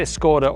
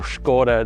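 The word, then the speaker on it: Škoda: And I say Skoda or Skoda, depending on how you pronounce it.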